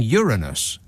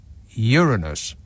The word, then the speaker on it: Uranus: have been um but suddenly news readers were saying Uranus and that is is definitely not how we were pronouncing it before that moment maybe they just realized